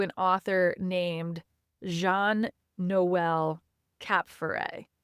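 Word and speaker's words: Kapferer: author named Jean Noel Capere. Caperrer. That's that's right. is K A P F E R E R, but it's actually pronounced cap for rare because I think that it's French.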